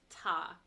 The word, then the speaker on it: 他: It's ta with a high flat tone. Ta, first tone.